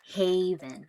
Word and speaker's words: haven: Our next word is haven. Not to be confused with the word heaven. We pronounce this one as haven. Almost as if there was a letter Y here.